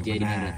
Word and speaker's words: Djayadiningrat: Kenapa nggak TD ya kan ya? Karena masih ejaan lama jadi DJ. Jaidiningrat.